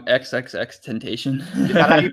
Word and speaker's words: XXX Temptation: guy's name again um XXX temptation outfit or do you just like elide the extra X's no you definitely pronounce the X's you say xxx temptation xxx yeah 3x Eve I've